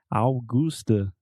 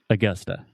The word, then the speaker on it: Augusta: So we're talking about the schwa sound, o som do schwa. So most Brazilians will see this word and they want to say Augusta, like Augusto, but it's not. Augusta. It's Augusta. So say it with me Augusta.